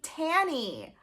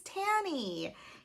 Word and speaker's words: Tanny: gracious and said oh it's like Tammy but with an N so Tanny her name is Tanny and now you guys